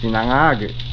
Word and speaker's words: Sinangag: Sinangag~ (completely native speaker pronunciation, that japchae -0-) -Hahaha -Look, there's so much garlic~ -Isn't there a lot?